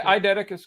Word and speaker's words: eidetic: least yeah I did eidetic is correct there's no actual Eddy an eidetic it's a ID but yeah there we